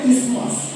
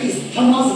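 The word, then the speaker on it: isthmus: জিনিস আমি বলে রাখি যদিও এর বানানটা আই এস টি এইচ এম ইউ এস আমরা কিন্তু এটাকে ইস্থমাস বলবো না আমরা এটাকে কি বলবো ইসমাস বলবো যেমন দেখবেন এজমা এজমা যদি বানান করো এস টিএনজি আমরা কি এস্থামা বলি যারা বলি তারা ভুল প্রোনাউন্স করি একচুয়াল প্রোনাউন্সিয়েশন হচ্ছে এস্থামা না প্রোনাউন্সিয়েশন হচ্ছে এজমা ঠিক আছে this is নট ইস্থমাস this is ইসমাস বোঝা গেল এবার এই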